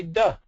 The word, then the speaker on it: does: Well, how do you pronounce the base D-O in the word doing? Well, there you say do, but in does you say duh.